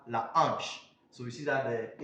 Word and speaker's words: hanche: When the letter H is in contact with other letters in a word, then it is H. It is silent. Sorry, it is silent. Example, in these words, for example, we have la hanche.